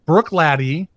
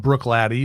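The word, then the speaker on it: Bruichladdich: i've decided to go with the 2011 um brook lady and it's not spelled brook laddy that's how you say it it's way more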